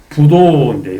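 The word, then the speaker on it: 不道: 그런 소리를 듣지 않으며 구 부도인데 여기서 디귿이나 쯧 앞에 불은 부로 발음되니까 여기서 도는 말하지 않는다.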